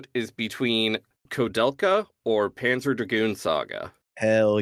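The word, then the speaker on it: Koudelka: it was, but no, it's just a Czech name. That the main character has. Apparently, it is pronounced Kodelka, but the katakana definitely says Kudelka.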